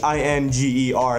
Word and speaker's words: Ehinger: But we traded him to the Chiefs for Parker Ehinger, Ehinger. That's how you say his name.